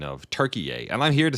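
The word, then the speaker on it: Türkiye: Say Turkey yay. Looks like Turkey yay is back on the menu, boys. They They changed the pronunciation, but can't avoid the association.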